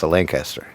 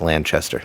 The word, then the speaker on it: Lanchester: plays is is Ela Lancaster who plays well actually it's Lanchester can't say Lancaster cuz she gets mad even in death right but um in